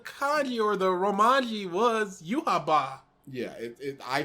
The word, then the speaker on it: Yhwach: Bleach, and there is no definitive way to pronounce his name. Yeah, I thought that the kanji or the romanji was Yuhaba. Yeah, I say Yhwach because that sounds silly, and that's the way that I've heard it most commonly.